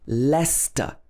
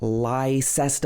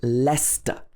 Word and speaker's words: Leicester: that it's actually st for example lester this is not lyster or lychester it should be lester and there's a bigger